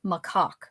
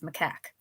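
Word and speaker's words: macaque: She pronounced macac like macock instead of macac.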